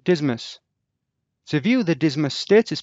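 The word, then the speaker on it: DSMS: Aircraft stores are managed through the Digital Stores Management System, pronounced DISMS.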